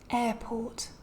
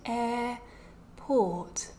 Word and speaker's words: airport: a consonant sound so listen to me say the following word airport so here neither of the two RS is pronounced because both of them are before a consonant sound right a port instead we just get these longer vowels pronounced with nothing after them um some other common